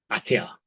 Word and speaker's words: Attia: Peter Ata. Okay, ata is spelled a tt i a.